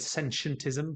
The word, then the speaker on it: sentientism: And Margaret, for those in the States, some people like to run it together with sentientism, but I prefer to stick with the hard T.